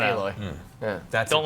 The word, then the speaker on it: Aloy: It's not Alloy. It's not Aloy.